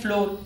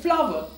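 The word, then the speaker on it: flour: आटा फ्लोर जो है ज्यादातर लोग 99 पर इसको फ्लोर ही कहते हैं बट दिस इज रंग या तो आप इसको प्रोनाउंस करेंगे फ्ला वीट एंड फ्ला या फिर इसे प्रोनाउंस करेंगे फ्लावर फ्लावर फूल वाला और फ्लावर आटे वाला दोनों एक ही प्रशन रखते हैं इसी तरह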